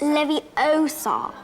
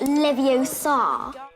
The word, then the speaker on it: Leviosa: take someone's and besides you're saying it wrong it's Leviosa not Livio Saab virgos are known for